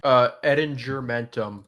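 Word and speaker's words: Ettingermentum: Edinger Mentum. It's a hard G.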